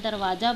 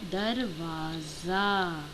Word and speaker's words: दरवाज़ा: दरवाज़ा बंद कर दो, बट जनरली ऐसे बोल दिया जाता है, दरवाज़ा बंद कर दो। नहीं, दरवाज़ा नहीं होता है, वो होता है दरवाज़ा।